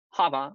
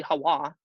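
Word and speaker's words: חַוָּה: I know they say it's Eve, but it's Hava, or it could be Hawa, or Hua, some pronounce it, because she was the mother of all living.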